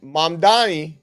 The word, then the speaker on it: Mamdani: But a New York City poll has come out, and they have Cuomo up top at 54%, and Mamdani, I think is how you say his name, at 46%.